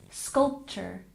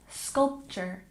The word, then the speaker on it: sculpture: again beautiful and sculpture we stress the first syllable sculpture sculpture once again sculpture very